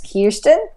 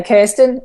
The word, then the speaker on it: Kirsten: our chat today and Americans will often say my name is kirston and here we say Kirsten so either one is fine no problems there and